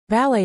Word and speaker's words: ballet: Ballet is pronounced ballet with the stress on the second syllable and that t is silent.